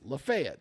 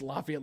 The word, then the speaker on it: Lafayette: in northwest Georgia it's Lafayette, but in Alabama it's Lefayet. So yeah. Yeah. It's Lafayette, Louisiana, you know.